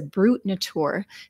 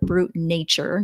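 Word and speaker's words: Brut Nature: you on the label that this is a brute Natur and brute at or brute nature you could call it um because that's the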